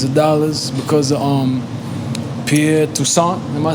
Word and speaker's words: Toussaint: hundreds of billions of dollars because of Pierre Toussaint.